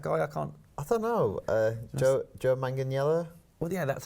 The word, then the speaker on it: Manganiello: Joe Manganiello?